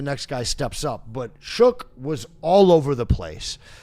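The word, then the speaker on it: Shough: Oh, Tyler Shook. That's That's how you pronounce it, actually. Oh, really? Yeah. It's shook. It's not show.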